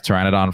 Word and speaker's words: Pteranodon: Now, as Pteranodon Flyers, did I say it right?